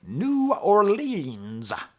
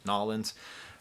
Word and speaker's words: New Orleans: about his cousins and the way he pronounces New Orleans is like the least New Orleans way of pronouncing it he's like New Orleans as opposed to you know noin uh that's where the